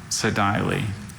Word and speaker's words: sedile: Is there any alternate pronunciations? Just the one, sedile.